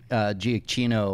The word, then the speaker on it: Giacchino: It's so funny because so many people say Giacchino or Giacchino. I kept hitting the hard C and everybody Giacchino, just lambasted me.